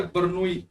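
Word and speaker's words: Bernoulli: वैसे तो सही जो उसकी प्रोनाउंसिएशन है वो बर्नूई है, बर्नूई, ये एल वगैरह साइलेंट है, बर्नूई, पर हिंदी की किताबों में आपको बर्नौली लिखा मिलेगा, इसलिए मैंने आपको बर्नौली बोल दिया पूरा इसे। वैसे सही क्या है, बर्नूई।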